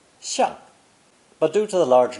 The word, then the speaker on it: 象: This character is pronounced fourth tone, 像, 像.